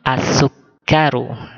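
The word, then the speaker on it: السُّكَّر: ya gula ia masukkan Al ini huruf Sin Sin termasuk huruf Syamsiah sehingga bacanya menjadi asuk karo ya kemudian hulwun Hollywood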